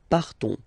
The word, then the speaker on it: partons: So classic ending ons, you don't pronounce the s, you just have this on sound nasal. Nous partons.